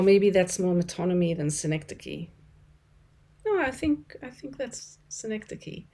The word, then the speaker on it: synecdoche: I always want to pronounce it synecdoche. It is not. It's synecdoche.